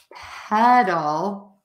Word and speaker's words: pedal: everyone's questions so we have pedal and you can also think of it as head doll that helps some people and then we have